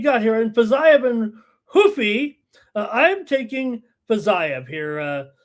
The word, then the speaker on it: Rufi: corrected me this week the official Brazilian pronunciation there hoofy it looks like hy to me but apparently it's hoofy that's Portuguese I'm speaking Portuguese here